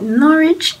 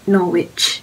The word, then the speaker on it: Norwich: a welcome brunch and i realized that i've been pronouncing norwich wrongly all this time it's called norwich not norwich so yeah i made